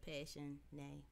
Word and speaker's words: Passionae: Yeah, because you know you got passion, but Mm-hmm. So you put Passionae.